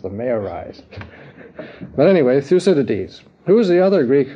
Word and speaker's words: Thucydides: war by the stanislaus you can't pronounce it through sodiudes no thucydides the acidities where you're